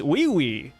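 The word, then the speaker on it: Ui Ui: You know, it's Wee Wee. You know, like that's how Meimei pronounces it in the anime, guys.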